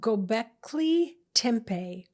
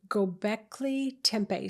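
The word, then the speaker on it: Göbekli Tepe: to be 12,000 BC this area is called gockley Tempe gockley Tempe so it's spelled g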